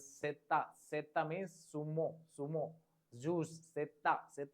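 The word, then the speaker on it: zeta: Z is pronounced as setta.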